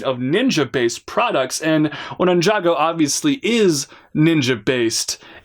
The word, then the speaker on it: Ninjago: Pretty much everyone said Ninjago like it's 2 separate words instead of one, Ninjago.